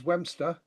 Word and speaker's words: Westmeston: In Sussex, Westmeston is Wemster, and Brighthelmstone was the original name of Brighton and the original spelling.